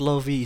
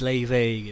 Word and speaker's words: Lauv: Ternyata dia it's not Lofi, it's Leve gitu.